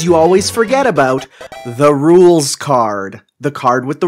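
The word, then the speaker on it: Rouxls: same i called it ruxel's card to begin with i mean i and i speak french i know french you know the x never makes a sound but even when i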